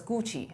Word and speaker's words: Gu: that in Chinese, it's my last name is pronounced first, so it's pronounced as Gucci as a brand name.